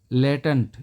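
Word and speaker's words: latent: और देखिए दोस्तों, अगला जो है हमारा वो है लटेंट, लेटेंट, इसको बोलेंगे लेटेंट, इसका प्रोनाउंसिएशन देखना दोस्तों, लेटेंट।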